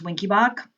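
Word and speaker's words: Wenckebach: It's also called Mobitz 1, and it's also called Winky-Bach. It is pronounced Winky-Bach.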